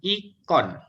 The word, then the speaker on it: ikon: E dibacanya I. Ya, K-nya tetap, O-nya tetap, N-nya tetap. Berarti ini bacanya adalah ikon.